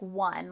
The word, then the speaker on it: won: how we would pronounce but actually this one doesn't follow the the typical vowel sound this is like one like i won a basketball game w-o-n would be one like you won a